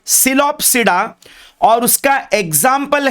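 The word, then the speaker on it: Psilopsida: सी the pronunciation, P है पर इट is silent, it is called सिलोप्सिडा, और उसका एग्जाम्पल है सिलोटम।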